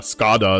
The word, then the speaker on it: Skada: I remember using Skada as well, which is like pronounced funny because it's damage in Swedish. It's Skada, but everyone calls it Skada.